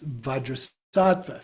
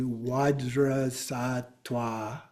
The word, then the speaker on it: Vajrasattva: And so we pronounce vadrasa for example. So it could be wadra sata. Okay. Or benzata. Okay. Um but vadrasa works for us but oftentimes it's benzat.